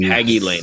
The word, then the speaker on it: Hagy Lane: and talk about and so I'm gonna say hegy Lane is that right haggy lane hagy lane okay perfect I just want to make sure I got the pronunciation right um for those not familiar with